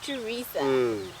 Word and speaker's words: Theresa: And then I would get to the office and be like, no, it's Theresa. So pronounce it properly.